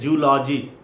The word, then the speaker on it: zoology: Even the professor of zoology says zoology. The right pronunciation is zoology.